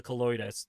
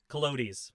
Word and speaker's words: Calotes: I think Europlatus is how I stumbled upon you again, and then of course the Colloidus. The Colloidus. My pronounce Colodis. Calotes, my mistake.